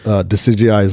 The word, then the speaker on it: Decidueye: Like, it's literally like decide eye.